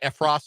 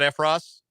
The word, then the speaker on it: Effross: Am I pronouncing it right? Effross? Effross, yeah.